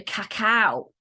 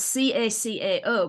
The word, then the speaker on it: cacao: cacao ceremony I've been on and it's actually cacao so it's spelled c-a-c-a-o but pronounced cacao so thank you for correcting